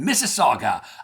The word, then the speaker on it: Mississauga: It's spelled MISS AU GA. Yeah, that's right. Not IPI. We're not talking Mississippi. We're talking Missaga, Ontario, and Canada, just west of Toronto.